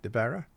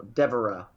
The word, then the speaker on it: Devara: And Exo Nation, our guest this hour is Devara. Did I say it right? Devara? No, Devara. Devara. Think of Deborah.